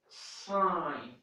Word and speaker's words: sign: it is pronounced but in the verb it is not pronounced in the world it